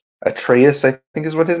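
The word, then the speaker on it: Atreus: Atraus. Then I'm Am I pronouncing that correctly? Atraeus.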